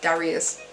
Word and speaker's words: Darius: I think it's called Darius. That's how they pronounce Darius, right? Not Darius. Darius. Yeah, Darius.